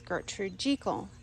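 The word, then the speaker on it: Gertrude Jekyll: me with my pronunciation and said it rhymes with treacle gertrude jiggle so so barbara austin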